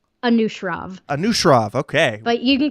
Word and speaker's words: Anushrov: How do you pronounce his first name so I don't get it wrong? Anushrov.